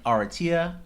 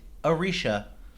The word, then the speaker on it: Aretia: Arishia. That's it, guys. We've been calling Aratia Aratia. This whole time I'm listening to the graphic audiobook novel and they pronounce it Arishia.